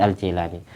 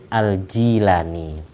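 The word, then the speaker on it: Al-Jilani: nama Syekh Abdul Qadir aljailani tapi umumnya kita bawa bacanya Al Jailani biasa ngomong Jay langkungnya apa orang Indonesia senengan fathah asinya yang benar itu kasr aljilani kalau ditulis latin itu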